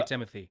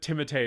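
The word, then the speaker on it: Timothée: I but but say Timothy yeah I I it's insane to me that timate is how you say that name um I almost want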